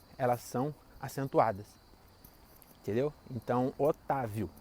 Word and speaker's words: Otávio: Então, Otávio. As sílabas são o, tá e viu. Se a sílaba tônica é o tá, né, para ser Otávio, tem que ter um acento.